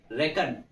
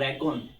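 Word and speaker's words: reckon: रेकन this is नॉट रेकॉन this is रेकन ठीक है believe रेकन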